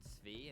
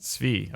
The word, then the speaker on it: Tzvi: a clip at some point for how to pronounce my name. I could just do like exclamation point Tzvi, and it would. Tzvi. Okay, got it. We'll get there eventually. Sorry, man. Pizza. Tzvi.